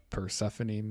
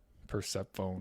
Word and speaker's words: Persephone: even look like the the way it's spelled doesn't look like persephone at all looks like percep phone or something i think that name